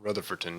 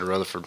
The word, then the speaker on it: Rutherfordton: Did you say Rutherford, right? Yeah, I just shortened it. I said Rutherford on the show. Rutherford. And they was like, why didn't you say Rutherfordton?